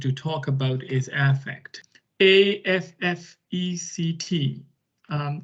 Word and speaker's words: affect: talk about is affect a f f e c t um it's written like effect um but pronounced slightly differently as affect what is affect is